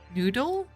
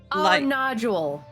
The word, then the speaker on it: nodule: Crust noodle. I know that crust noodle. It sounds so stupid. It's not smelled like noodle, but it's spelled nodule.